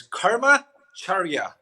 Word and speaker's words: Karmacharya: Uh well it is easy to mispronounce but it's pretty straightforward. It's Karma Charia.